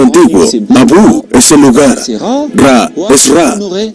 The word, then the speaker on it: Ra: Ra, también pronunciado como Re, es el Dios Sol.